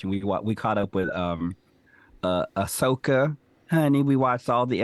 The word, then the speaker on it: Ahsoka: it's the new Star Wars series about Oh, is the that how you character pronounce her name? Ahsoka.